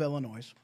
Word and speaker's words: Illinois: So here in the grand state of Illinois, and yes, I pronounced it Illinois, because it's fun for me and it makes, certain people go, you don't pronounce, the S is silent anyway.